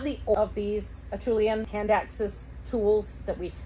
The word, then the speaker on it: Acheulean: No, do not ever trust my pronunciation of anything. Acheulean. Acheulean.